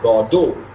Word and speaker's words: Godot: is interesting is that when he adds that second syllable to god and makes it bordeaux god is a single syllable right or doe makes a two syllables there is that second o that gets added g o d o t right so that's that